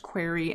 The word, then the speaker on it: Qri: mo goodell FS Qri it's pronounced query and quilt I think